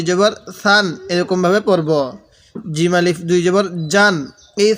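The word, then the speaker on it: ج: সান এরকম ভাবে পড়বো জিম আলিফ দুই জবর জান এই হা টা একটু নরম করে পড়বো জিমটা একটু শক্ত করে পড়বো জিম আলিফ দুই জবর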